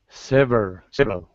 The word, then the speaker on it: several: Several. Several. Several. Yes. Yeah, it's like two syllables. Several. Mhm. It looks like three, but it sounds like two.